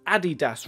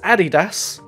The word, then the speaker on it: Adidas: The point is, they're Germans, they're German companies, and the Germans pronounce it Adidas. So if where the company originates, which is Germany, says Adidas, that means the Americans are wrong. It's Adidas, not Adidas. Fuck you, Richard.